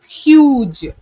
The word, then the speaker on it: huge: If I add e at the end, the pronunciation changes in the sense of u, j. Why the g sound changes from g to j is nothing but it comes under another rule of soft g and hard g. That rule later on we'll be seeing in the coming up sessions. Okay, so huge.